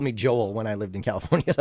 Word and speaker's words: Joel: Joel With an L Joel. is how I had to say it. When I lived in California, they called me Joel. Hoel. Nobody ever called me Joel when I lived in California.